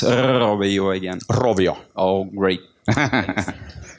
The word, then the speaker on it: Rovio: Can you please pronounce Rovio again? Rovio.